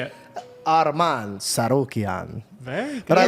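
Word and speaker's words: Tsarukyan: It's hard to pronounce his last name. Hold on. It's okay. I thought it was super cute. Arman Sarukian. Arman Sorokian. Now you say it. Arman Sarukian.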